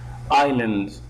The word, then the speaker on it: island: this is Island and you can see that the s here that s here is a silent consonant this is de silent